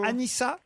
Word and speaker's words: Anissa: Oh, C'est elle a- Anissa, excusez-moi Laurent. Ah, faut dire Anissa. Oui, ça Ah. s'écrit avec un seul S.